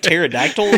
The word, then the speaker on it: pterodactyl: say it's just like pterodactyl with the silent P at the beginning or something uh patience